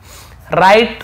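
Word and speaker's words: write: राइट road return, W silent है, राइट पढ़ेंगे लेकिन लिखने लिखेंगे, लिखना, राइट यानी लिखना, लिखता है, रोट यानी लिखा, ऐसे होगा।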